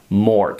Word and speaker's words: moord: But in Dutch, the D becomes a T. They don't like the D at the end. So they say hart, paard, gerend, rond, moord. So you have to pronounce it as if there was a T.